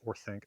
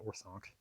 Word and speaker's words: Orthanc: I've been praising Christopher Lee's pronunciation, although he does say orthanc, not orthonc, which would be consistent with Old English.